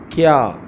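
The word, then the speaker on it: کیا: Okay, so how to pronounce this word in Urdu? Kya, kya, kya.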